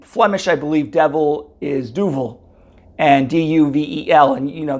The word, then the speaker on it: Duvel: it means devil and it's not it isn't Duvel it is Duval that's how you actually pronounce it um and more gar